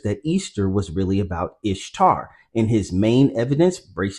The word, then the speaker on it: Ishtar: Number one, Ishtar is pronounced Easter. Well, the reality check is no, Ishtar is pronounced Ishtar.